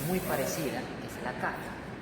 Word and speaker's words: Qaf: Hay otra letra que es muy parecida, que es la Kaf. Una cosa es la Qaf y otra cosa es la Kaf. Qaf, Kaf. Qaf, Kaf. ¿Notan la diferencia en la pronunciación?